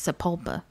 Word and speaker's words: Sapulpa: think I've mentioned it I was born in Oklahoma and so I know how it's Sapulpa let's do Sapulpa why thank you for